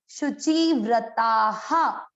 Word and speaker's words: शुचिव्रताः: विसर्ग का उच्चारण इसके लास्ट वाले अक्षर की मात्रा पर, इसमें आ की मात्रा है तो इसको पढ़ेंगे हा, शुचि व्रता हा।